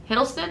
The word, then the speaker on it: Hiddleston: been enjoying it tom hiddleston i like him hiddleston is how you say his name i like